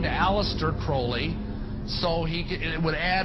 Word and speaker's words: Crowley: have his name pronounced crowley to rhyme with holy and the satanist today